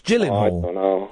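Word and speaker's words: Gyllenhaal: enemy it's a soft it's a soft G it's Gillen Hall Jake Gillen Hall isn't it have you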